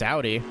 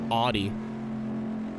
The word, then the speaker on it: Audi: to ten how much does it annoy you of the people who say Audi that that really bothers me I've corrected one of my friends like four times and he was like no you're saying it wrong I was like all right so the Germans are wrong I guess the the Germans are saying their own name wrong yep you got it